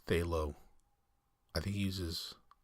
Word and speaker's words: phthalo: So originally I was going to say phthalo blue, but I know that Bob Ross calls these phthalo. I think he uses phthalo white.